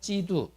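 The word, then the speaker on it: 基督: 그리스도 우리 한국 발음으로 하니까 그리스도 한자를 중국 발음으로 하면 지두이 그리스도를 영어 발음으로 하면 크라이스트 이해되셨나요 그럴 때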